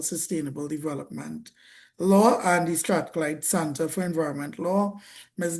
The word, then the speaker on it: Strathclyde: As a result of this, she has embraced roles such as working with the University of Strathclyde. I believe I pronounced that Yes, correct.